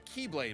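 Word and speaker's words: χ-blade: explosion from when the keyblade was destroyed yeah it means the x-blade it's just pronounced like keyblade even though it's just one keyblade ah the series is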